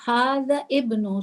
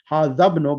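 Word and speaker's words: هذا ابن: So you were saying hada ibnu. So why weren't you saying hadabnu? The reason why I'm doing it this way, it's trying to make yourself clearly understand how to pronounce the words ha. Of course, it's correct, hadabnu, but because I'm trying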